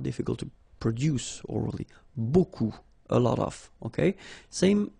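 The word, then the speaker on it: beaucoup: looks a bit strange Buu like that remember you don't pronounce the final P okay and then you get this combination of vowels uh and you get the sound o so technically it's okay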